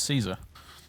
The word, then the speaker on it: Caesar: people for saying Caesar that's how you say in English I never understand that stuff people are really inconsistent about what they want to pronounce like Roman style and what they want to pronounce English style brutal we're not speaking Latin here we're speaking English and in English its Caesar no need to be